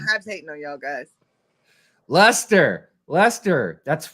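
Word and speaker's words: Leicester: I'm I'm kidding hes hating on y'all guys Lester Lester that's right I forgot you guys pronounce things so weird oh I would never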